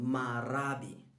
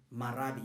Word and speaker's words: marabi: of the 1920s in south africa it's called marabi marabi you can say it after me it's spelt m-a-r-a-b-i marabi all right so marabi is